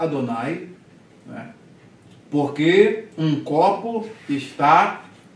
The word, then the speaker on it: Adonai: aqui tá com as vogais adonay Então se pronuncia Adonai O Judeu Vale alô vai tá eu botei